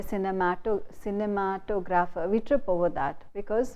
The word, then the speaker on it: cinematograph: You say cinema, cinematograph, cinema, where the stress is on cinema. But when you say cinematograph, the suffix graph, you say put the stress on the syllable just before the suffix, and you say cinematograph. The stress is on matograph, cinematograph.